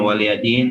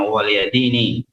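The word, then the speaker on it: وَلِيَ دِينِ: Jadi ada yang bacanya waliyadin, ada juga yang bacanya waliyadini. Artinya bagiku agamaku.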